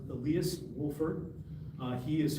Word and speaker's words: Elias: It's pronounced Elias Wolford.